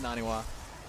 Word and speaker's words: NaNiwa: Sorry, Moro, I just said his name wrong. It's Naniwa.